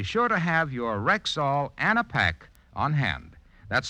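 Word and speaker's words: Anapac: coming on be sure to have your Rexall an a pack on hand that's spelled a n a p a c and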